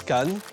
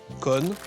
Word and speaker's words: canne: Selon les régions de la Normandie, on prononce can, con, can con ou cha dans le sud.